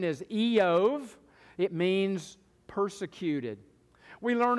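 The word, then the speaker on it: איוב: The Hebrew pronunciation is Eov.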